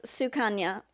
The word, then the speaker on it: Sukanya: Blaze can't read and she decided to pronounce our girl Suki's name wrong. Um, it's Sukana, right?